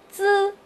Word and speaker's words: z: 滋，在发音的时候呀，大家一定要注意，用你的舌尖抵住你的上下牙齿的齿缝，放平